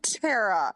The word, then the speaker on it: Cetera: sometimes performed by Peter Cetera when he was in the band Chicago. Cetera. It's pronounced Cetera. I'm used to et cetera, okay?